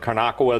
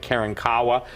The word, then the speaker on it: Karankawa: And what's important that people understand is this, is that even in Texas, some people pronounce it Karnakawa, the other people pronounce it Karankawa, but the appetite of